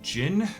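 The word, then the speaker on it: Djin: And when I'm not here as the GM of those games, you can also catch me here playing Jin, where the D is silent, the electric cowboy who wields a shield.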